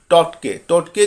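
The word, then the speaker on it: Tauktae: तो ये टोटके क्या है इसको भी थोड़ा सा देख लेते हैं, ठीक है। ये देखिए, ये जो नाम है इसको हम टोटे के नाम से प्रोनाउंस करते हैं और ये बहुत ही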